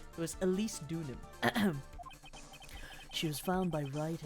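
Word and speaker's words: Deauxnim: I think it was Dunham. Dunham. Dunim. Pronunciation. Larice do Donan. Donan. It says Donan. Wait, hold on. Dunim. Oh, Dunim. Sorry. Dunim. It was Elise Dunim.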